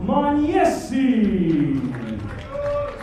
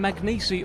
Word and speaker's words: Magnesi: featherweight champion of the world Michael Lone Wolf Man yesi well there's your pronunciation from Thomas Driver I've been calling him magnesi all week it's about levels man yesi how